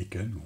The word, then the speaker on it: Aiken: Nous on va commencer par le premier format, le plus simple, le format Icon ou Icon, on prononce comme on veut, il n'y a pas de souci.